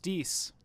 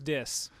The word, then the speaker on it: Dis: It's pronounced Dees. I swear it was Dis.